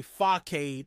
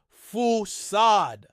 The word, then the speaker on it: facade: In particular, the American tendency to say facade as opposed to the British way of saying it, foussade.